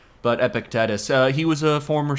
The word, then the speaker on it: Epictetus: Epidmus. Epictetus. Epictetus. I might be mispronouncing it, but I always up the Greek names.